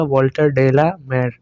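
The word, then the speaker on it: Walter de la Mare: तो इनको जो प्रोनाउंस किया जाएगा एक्चुअल में वो होगा वॉल्टर डेला मेयर।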